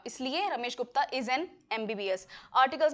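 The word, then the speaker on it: MBBS: इस वर्ड को कैसे प्रोनाउंस करते हैं? यह वर्ड है एम बी बी S. Sound ई का बन रहा है।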